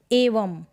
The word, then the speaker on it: एवं: Next क्या है, यदि यह बिंदु शब्द के अंत में यानी कि लास्ट में आए तब इसका उच्चारण होगा जैसे स्वयं, एवं, म करके इसका आधा म करके इसका उच्चारण हो रहा है, साउंड आ रहा है, मतलब आधे म का म, ऐसे स्वयं या एवं।